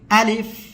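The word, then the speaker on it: ألف: আশা করি বুঝতে পেরেছেন যেহেতু শুরুতে আলিফ অক্ষর উচ্চারণে কোন বাতাস নাই শুরুতে সেক্ষেত্রে এই অক্ষরটা জাহারের ভিতরে আলিফ আলিফ আলিফ দেখেন প্রথমে কোন বাতাস নাই অতএব এটা জাহার ওকে এরপরে যে অক্ষরটা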